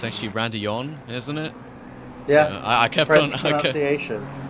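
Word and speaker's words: Raidillon: I kept on saying Radillon with an L. It's actually Radillon, isn't it?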